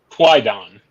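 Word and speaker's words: Kwaidan: I don't even know how to pronounce this. Quaidon? It's Quaidon.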